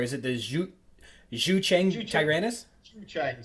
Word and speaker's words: Zhucheng: Zhucheng. So it's Chinese pronunciation of English characters. So ZHU is kind of Jew or Jew.